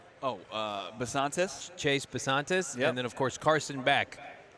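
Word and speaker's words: Bisontis: How do you pronounce Chase's last name? Basantis.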